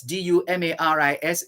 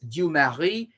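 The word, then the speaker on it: Dumarsais: 1951 when ex-president of haiti museum esteem that's d-u-m-a-r-i-s du mari d-u-m-a-r-i-s you marry esteem e-s-t-i-m-e mussio so this is january 24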